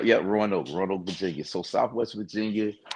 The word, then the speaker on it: Roanoke: Roanoke? Yeah. Roanoke, Virginia.